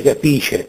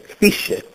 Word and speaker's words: capisce: Capisce, egli capisce, non si dice capisce, capisce.